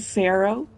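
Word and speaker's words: Faro: name soac and Ted Pharaoh Pharaoh like is close it's pronounced the same as Pharaoh Like An Egyptian pharaoh and cannot Comm me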